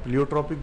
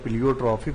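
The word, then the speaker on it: pleiotropic: एजोट्रॉपिक बोलते हैं या प्लियोट्रॉपिक बोलते हैं तो उसको हम प्लियोट्रॉपिक बोलते हैं. देखिए यहाँ अंतर दिया प्लियोट्रॉफिक और प्लियोट्रॉपिक. तो प्लियोट्रॉपिक बोलते हैं, प्लियोट्रॉफिक नहीं बोलते हैं.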